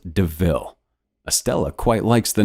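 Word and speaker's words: De Ville: a panther deville and points out the similarity to the word devil though it's pronounced deville estella quite likes the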